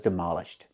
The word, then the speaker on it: demolish: We see how the stress moves. The stress is on the de and the ish. Demolish. Demolition. That's the noun.